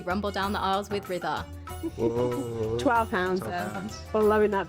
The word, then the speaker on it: Rida: I'm Ritha, and you pronounce it like rhythm. So rhythm, Ritha.